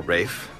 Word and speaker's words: Ralph: course known as Ralph pronounced Ralph or Rafe whichever you prefer do you girls smoke